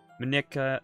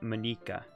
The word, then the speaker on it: Monika: Oh. Saying it wrong. You'd say it as if you're saying... Monika? Monika, not Monika.